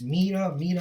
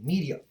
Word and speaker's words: Media: I believe it's Meda. That's how you pronounce it. Media. Excuse me. Media.